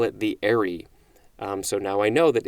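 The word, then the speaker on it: aerie: color and distinctness distinctness next is arie a-e-r-i-e or spelled a-e-r-y and yes i believe i am pronouncing that correctly this is a noun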